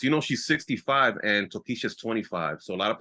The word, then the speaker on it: Tokischa: she was in the Heights right um with tokisha am I pronouncing that right yes oh yeah new Dominican